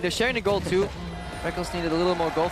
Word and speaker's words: Rekkles: Oh, the Q stops Rekkles, or Reckless, for going back. Rekkles. Technically, it is written Rekkles. Yeah. It is. You spell it phonetically. All the way back in his first major tournament, IPL 5, the Rekkles and Reckless debate was in full swing. I still want to call him Rekkles, but I've just gotten so used to calling him Reckless because he says so.